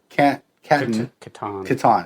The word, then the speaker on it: Kattan: Taye Diggs, Ali Larder, Bridget Wilson, Chris Catan. Chris Kattan, yeah, that's right. I always mispronounce his name.